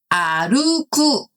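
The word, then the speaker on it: 歩く: 자, 요거는 아루쿠라고 읽습니다.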